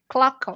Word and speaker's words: Klockow: Klockow. Yep. That's my weakness is don't know how to pronounce people's names sometimes.